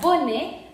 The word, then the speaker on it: bonnet: Bonnet, entonces se pronuncia bonnet porque tenemos ET final y ET final quedamos que es como E.